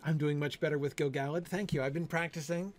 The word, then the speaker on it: Gil-galad: I'm doing much better with Gil-galad.